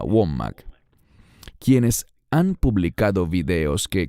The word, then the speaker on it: Wommack: Hay tantos de esos falsos maestros, llámese Kenneth Copeland o Andrew Wommack, creo que se pronuncia Wommack, quienes han publicado videos